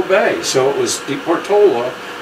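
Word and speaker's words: Portolá: So Port de Portola, de Portola, to pronounce it as he did, he and his group just marched right on past the bay, never saw it.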